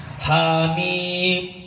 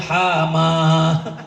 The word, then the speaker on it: حم: Orang baru belajar kadang gitu kan, hamim bacanya hama. Kita kan waktu dulu awal belajar kan nggak tahu itu alif lam mim, itu hamim. Saya mengalami itu. Hama. Ha sama mim dibacanya hama.